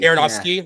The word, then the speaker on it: Aronofsky: How do you pronounce his name? Aronofsky. Aronofsky.